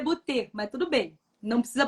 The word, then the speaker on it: Beauté: Beauté, tipo de beauty, só que é Beauté. Isso, a pronúncia é Beauté, mas tudo bem.